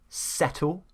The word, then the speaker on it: settle: Settle, not settle. So you see those differences. We pronounce the T, they do more of a D when the T is surrounded by two vowels.